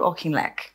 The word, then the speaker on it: Auchinleck: And moving that you talk a lot about, you mentioned him already before, but Claude Auchinleck, have I pronounced that right?